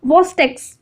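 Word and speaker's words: Chvostek: इसका प्रोनाउंसिएशन है ट्रूसू और इसका प्रोनाउंसिएशन है वॉस्टेक्स।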